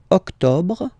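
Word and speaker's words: octobre: Don't insist on the final October.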